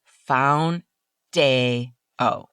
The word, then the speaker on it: Foundayo: not an April Fool's joke, the FDA approved foundo. That's spelled F O U N D A Y O. And the pronunciation straight from Eli Lily is found dayo.